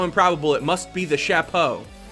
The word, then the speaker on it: chapeau: it must be the chapeau julian am i saying that perfectly chapeau that's how they say it right shapo now i feel like